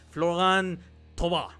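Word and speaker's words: Florian Thauvin: el Olympique de Marsella floran tob así se pronuncia eh to lo vimos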